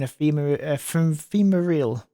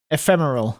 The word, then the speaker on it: ephemeral: still but that too remained only for an Epal Emeral I'm going to have to look out this word come up before pronounce it for me Google ephemeral of course it is Emeral moment su's finger